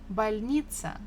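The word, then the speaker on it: больница: balnitzan a hospital balita stress falls on E so if you are not sure again maybe you can't hear well try to stress any other syllable if you stress the first one it will be bolnitza if you stress the last oneitza and it doesn't sound the same as Balinese this was a little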